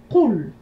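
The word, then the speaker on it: قُل: Qul, on entend simplement 2 syllabes. Qul. Donc, ce sont des sons courts et ça va nous donner Qu, la lettre Qaf avec Dhamma, L, la lettre Lam.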